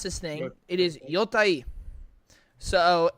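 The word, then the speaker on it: Yōtei: I looked up how to actually pronounce this thing. It is Yotei. So it's much easier to say Ghost of Yotei. But yeah, if you wanna correctly say it, is Yotei.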